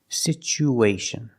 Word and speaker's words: situation: chicken situ situation because there's no stress on the U we change the T to the CH sound situation situation after the U situ we need to link the U with the a so we have an extra sound it's like a ww sound like a w to link these two vowels situ W situ ation situation because the situation is even